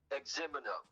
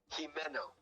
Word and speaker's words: Jimeno: Oh, well, see, there's two ways of pronouncing it, really. And I grew up in Long Beach, and everybody in Long Beach says it the same way, and it's incorrect. Even the Spanish-speaking people, they just go along with the incorrect pronunciation, which is Xemino. That's the incorrect pronunciation. The correct pronunciation is Jimeno.